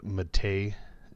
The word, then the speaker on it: MATE: one source I'm using the matei as they tell me it's pronounced desktop here you can